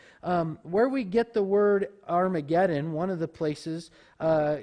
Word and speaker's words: Armageddon: It would just kind of be like a pirate, "Har!" You know, "Har-mageddon."